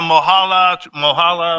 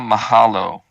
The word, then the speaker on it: mahalo: Hola, mohala. I think that's how you say it to all the Hawaiians out there. And definitely Wayside. He's our favorite Hawaiian. Yeah, man. Aloha, mahalo.